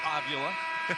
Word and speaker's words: Avila: He just says, yeah, it's pronounced Avila.